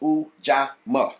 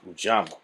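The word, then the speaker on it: Ujamaa: Pronounced Ujama. Ujama.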